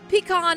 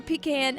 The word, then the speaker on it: pecan: And then the last one, pecan or pecan, however you like to pronounce it, pie.